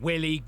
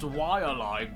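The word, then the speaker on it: Waialae: for a game called Willie Golf. Actually, I think you'll find that it's pronounced Walleye Golf based on the real life Golf Club in East Honolulu, Hawaii.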